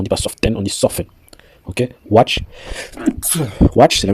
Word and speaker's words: soften: Quand on dit quelque chose souvent, on dit often, on dit pas often, on dit often.